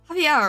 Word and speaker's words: Xavier: Wait, no, you've told me how to say this. Hang on. You said, why did you say it had to do with a shoe? It was supposed to be, Javier, right?